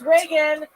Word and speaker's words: Regan: Regan, everybody. Woo! Regan. Regan, everyone. Come on. Yes. Hey, it's Reagan. It's spelled like Regan because my mom named me after the president, but she spelled it wrong because she's a Republican.